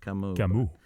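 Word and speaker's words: Camus: him and French and his name is pronounced kamuu oddly enough killed in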